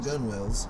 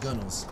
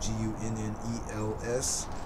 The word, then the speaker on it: gunwale: spelled g-u-n-w-a not pronounced gunwales as i once thought uh pronounced gunnels uh i would imagine that would sound like it's spelled like g-u-n-n-e-l-s but obviously it's spelled